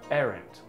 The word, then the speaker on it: arrant: this word is pronounced as errant errant errant is used